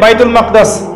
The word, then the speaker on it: বাইতুল মাকদিস: চলে গেল বাইতুল মাকদাস এটা কোথায় বাইতুল মাকদিস সরি বাইতুল মাকদাস না বাইতুল মাকদিস বিভিন্ন মানুষ বিভিন্ন উচ্চারণ করে এটা হচ্ছে প্যালেস্টাইন কোথায়